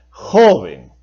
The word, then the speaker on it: joven: ¿Debo pronunciar joven o debo pronunciar joven? Por supuesto que debe pronunciarse joven. Por lo tanto, es en la penúltima sílaba donde lleva la mayor fuerza de voz.